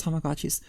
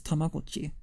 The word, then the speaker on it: Tamagotchi: Tamagotchi commercials have pronounced Tamagotchi's Tamagotchi, which is the right way of pronouncing it because of what the name is based off of. It's also how you pronounce it in Japanese. It's Tamagotchi.